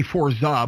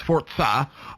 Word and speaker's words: Forza: forza games um i know i usually say forza but it's technically pronounced forza um it is uh it's it's it's ubiquitous